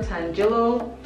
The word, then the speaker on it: tangelo: it also has radiant amber and then sugar tangelo and that's how you say it but yeah